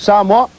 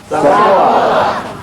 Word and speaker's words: Samoa: Samoa. Most people will say Samoa. The right pronunciation of the word is Samoa. Okay? So it's not Samoa, it's Samoa.